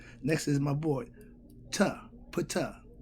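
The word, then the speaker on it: Ptah: is my boy tu pata p t h p is silent so because he uttered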